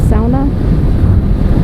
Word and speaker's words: sauna: they would have sauna which they pronounced sound up and anyway I didn't